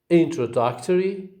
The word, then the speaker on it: introductory: So the first syllable begins with a secondary stress, and the third with a primary stress.